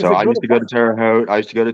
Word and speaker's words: Terre Haute: A lot of people may not know this, but Terre Haute is French, and in French, terre is land. It's spelled Terre. It's terre, not Terry. And Haute is Haute. And Haute just means high.